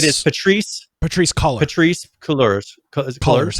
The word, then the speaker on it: Cullors: Cullors, how it's pronounced.